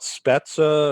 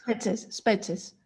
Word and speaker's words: Spetses: smaller and closer in, called I'm going to mispronounce it, called Spetsa or something like that, a small one, right? Spetses.